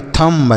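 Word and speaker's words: thumb: क्योंकि यहां पर जो बी लिखा है यह साइलेंट होता है। अगर एम और बी एक साथ आते हैं बच्चों तो जो बी होता है वह साइलेंट होता है। तो एम और बी एक साथ आए हैं ना तो बी साइलेंट रहेगा।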